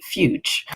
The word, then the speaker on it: Fyütch: Dad and I should say dad fuch. Um, which is spelled f y u with the umlout over the u, that's the two dots over the u, tch. So fy u, tch.